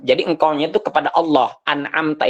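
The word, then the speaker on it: أنعمت: engkaunya itu kepada Allah anamta itu yang telah engkau berikan Anugerah tapi kita dibaca Dom anamtuaiim maka berubah artinya yang seharusnya yang telah engkau Wahai Allah berikan Anugerah tapi berubah artinya menjadi anamtu yang telah aku berikan Anugerah Nah itu salah begitu salah artinya berubah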